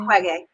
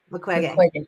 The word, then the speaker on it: Mukwege: Mukwege. Mukwege. Thank you. Mukwege. Don't worry, it took me years to pronounce I it.